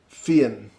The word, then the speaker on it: Fionn: It's pronounced Fionn, quickly. Fionn. Fionn. Okay. Fionn. Jason Ryan.